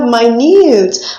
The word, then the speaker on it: minute: refers to a unit of time we have my nudes my nude refers to something small something my